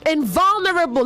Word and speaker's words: invulnerable: Invulnerable, not invulnerable. Invulnerable. Invulnerable. The stress is on vul, okay?